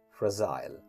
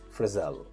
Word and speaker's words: fragile: In American pronunciation, we say frizzle, frizzle, frizzle. In British pronunciation, we say fragile, fragile, fragile. In British pronunciation, in American pronunciation, we pronounce the word as frizzle.